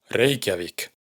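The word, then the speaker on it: Reykjavík: Así pues, por ejemplo, el nombre de la capital de Islandia se pronuncia Reikiavik.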